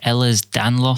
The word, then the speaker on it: Ehlers-Danlos: I think it's pronounced Ehlers-Danlos syndrome, EDS, which is just like a disorder